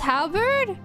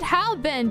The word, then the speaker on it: halberd: Is that a pun, or is this like a real way I should pronounce it? Because like, why is there an R and not an N? Like, is this word pronounced halberd? Wait, I called it halbend.